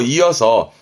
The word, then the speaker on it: 胃: 발음은 이, 음으로는 이밖에 없습니다.